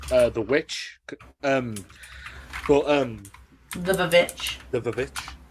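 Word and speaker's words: The VVitch: The Vavitch, as we have to pronounce it, because that's how it's styled.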